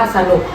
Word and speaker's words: สนุก: ลูก สนุก สนุก เ คำ ว่า สนุก อักษร สูง คือ ส เสือ นำ อักษร ต่ำ คือ น หนู อ่าน ว่า สนุก เห็น มย พอ คำ